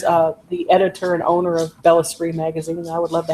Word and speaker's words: Bellesprit: It's spelled BELLESPRIT, like El Sprit. Yeah. It's not spirit. No, spell it again. BELLESPRIT, Bella Spree magazine, or Google it and it'll come up too.